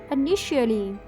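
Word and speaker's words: initially: इबत दई तौर पर पर इसमें टी की जगह हम एस एच की साउंड निकालेंगे इनिशियली साफ करना इसको इंग्लिश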